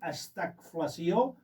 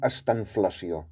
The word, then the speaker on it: estanflació: Doncs mira, començaré per, si no t'importa, i jo ho pronunciaré com estanflació. Molt bé, estanflació. Estanflació, perquè és més fàcil. I poses una N, I poso una N.